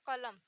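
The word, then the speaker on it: قلم: जो प्रोनाउंस होता है कलम और किताब, बड़े काफ से कलम, इसे का कहते हैं। इसे थोड़ा हलक से निकालते हैं, का।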